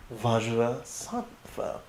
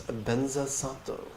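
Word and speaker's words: Vajrasattva: Diamond mind, known in Tibetan as Dorje Sempa, or in Sanskrit as Vajra Sattva, which is often pronounced in Tibetan as Benza Sato.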